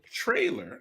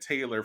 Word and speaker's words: Traylor: if I was about I've mispronounced your last name because in my head I have been calling it Taylor forever and then saw that that's R was sneaking up in there messing yes Taylor you and